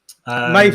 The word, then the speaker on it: Maeve: Maeve rhymes. Right, I must know Maeve's put rhymes with Dave now as well.